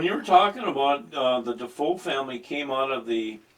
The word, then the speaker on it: DeFoe: But it's pronounced DeFoe.